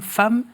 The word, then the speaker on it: Pham: votre prénom à l'origine vous êtes né femmes c'est comme ça qu'on prononce oui et âme ça veut dire coeur